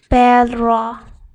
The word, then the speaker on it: perro: It's a thrilled R. For example, perro. Perro, which means dog. So, if you pronounce these two as in the same way, then you will confuse people.